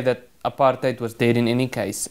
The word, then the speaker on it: apartheid: The policy of separate development, which the media mischievously branded apartheid with the accent on the HAT, hate, That was a policy